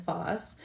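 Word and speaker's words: FOS: So all this means is they're pronounced Zos and Phos, and these are chains of sugars, oligosaccharides, multiple chains of sugars.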